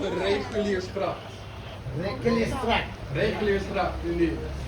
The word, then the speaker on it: Reguliersgracht: If you want to pronounce it in Dutch, it's called the Reguliersgracht.